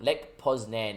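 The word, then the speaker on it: Lech Poznań: Lech Poznan is the British pronunciation, is what Ali's telling me.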